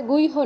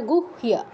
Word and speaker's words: গুহ্য: এই ভুলটা না হয় যেমন গুইহ এটা এখনই বললাম যে এটা গুইহ নয় এটা গুহিয়া আগে হ উচ্চারণ হবে পরে তো আমরা গুইহ